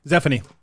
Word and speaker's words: Zefini: Zefini. Zefini. Zefini's better. Zefini's easy enough to say. It is Zefini. Zefini. No. Yeah. Look at the spelling. It's Zefini. I pronounce an E like eh.